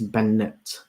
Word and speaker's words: Bennett: It's like bend it, without the D.